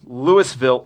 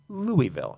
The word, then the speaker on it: Louisville: city was name named for French King Louie the 16th therefore it is pronounced Louisville and that's where he